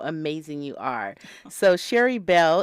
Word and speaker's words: Sherri: So Sherry Bell, and that's spelled Sherri. Just like Sherry Shepherd.